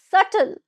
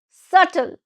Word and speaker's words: subtle: Word number nine is subtle. Subtle. Now repeat after me. Subtle. Subtle. B is silent over here.